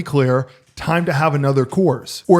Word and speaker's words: Coors: Time to have another Coors. Or as they say in Texas, Coors. The Coors is 2 syllables in Texas.